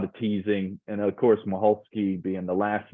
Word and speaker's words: Michalski: Well, it's a Polish name, but I can't pronounce it the correct Polish way. So this is the Southern way that I would say it, Michalski. But it can be Michalski, it can be Michalski.